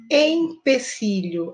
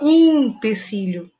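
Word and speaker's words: empecilho: ortoépia tá está incorreto olha outra em pecilho é o correto em ter filho só tem muita gente que fala impecilho então aí você tá trocando uma letra pela outra também é incorreto tá é o caso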